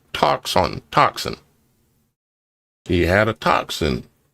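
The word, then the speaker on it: τόξον: B as defined G5115 in the Strong's concordance Greek 5115 is toxon pronounced toxon toxin.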